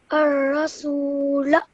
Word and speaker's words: الرسول: So you elongate this sound, and it would be treated as an alif madda. Okay. Can you say this now? الرسول Okay, this one over here.